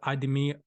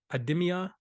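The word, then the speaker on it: IDEMIA: least on this list idemi ademia ademia hopefully I'm pronouncing that right i-d-e-m-i-a and Standard Chartered Bank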